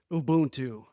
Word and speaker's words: Ubuntu: about um something um spelled ubu n t pronounced Ubuntu very nice and you